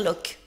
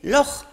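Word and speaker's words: Loch: devant un L oui parce que faut pas dire loc d'accord on dit monstre du Loc Ness oui et ben non les Écossais m'ont dit que ce sont les Anglais qui prononcent comme ça pour les embêter mais que c'est lor qu'il prononce par merci merci voilà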